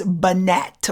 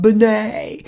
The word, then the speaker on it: Binet: and it is spelt it looks like it's banette but it's French so it's pronounced Binet so alfred Binet b.i n et al fat Binet I